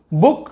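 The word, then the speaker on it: book: groom इतना सारा है अब छोटू की मात्रा डबल ओ लिखा हुआ है लेकिन हम इसे उ नहीं पढ़ेंगे उ पढ़ेंगे जैसे कि बुक इसे बुक नहीं पढ़ रहे बुक कुक लिखा तो वही है ऊपर का हमने पढ़ा कि बून तो इसे बुक पढ़ना चाहिए नहीं इसे हम बुक पढ़ रहे हैं कुक का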